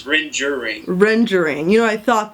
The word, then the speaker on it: Rengering: Is it Rengering? Close. It's Rengering.